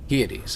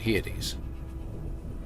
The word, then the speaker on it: Hyades: Kind of like you pronounce Pleiades. Hyades. I see what you mean. Hyades.